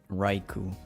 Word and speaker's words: Raikou: Raikou, yeah, that's how you say it, Raikou.